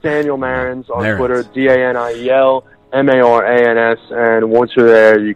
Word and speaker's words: Marans: Check me out on Twitter, Daniel Marans. By the way, it's emphasis on the first syllable.